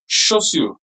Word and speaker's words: chaussure: Pay attention to this pronunciation. It's chaussure.